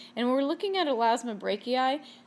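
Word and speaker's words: Elasmobranchii: This time they're in the class Elasmobrachii, and when we're looking at Elasmobrachii, this is pronounced E-I, not I-I.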